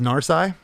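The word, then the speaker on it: Narsai: one I love it and your drummer is pronounced narai Nar Nar I love what's going on here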